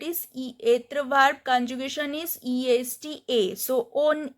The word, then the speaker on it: est: Then il est. This T is silent.